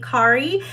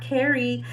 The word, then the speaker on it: Kari: some hair by Auntie Kari. If you guys end up using my rooting artist, her name is actually Kari, not Carrie. It's spelled C-A-R-I.